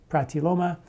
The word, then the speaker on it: pratiloma: those articles is called strengthen your lungs now protiloma which is spelled p-r-a-t l-i-o-m-a pratiloma and the other one is called breathe away